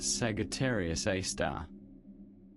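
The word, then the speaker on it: Sagittarius A*: a super massive black hole called Sagittarius A asterisk pronounced Sagittarius A star.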